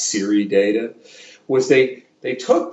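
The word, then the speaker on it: CIRI: single nellie and richard c-i-r-i it's usually pronounced siri data was they they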